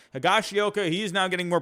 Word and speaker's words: Higashioka: less playing time getting higashiyoka or higashiyoka i always forget how to pronounce that higashioka he is now getting